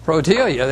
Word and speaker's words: Rhodiola: this herb right here I pronounce it riola some people say rodelia it has a couple